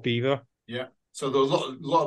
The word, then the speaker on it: Belvoir: Castle no Beaver Castle it's spelled Belvoir but to confuse people it's called Beaver yeah so there lot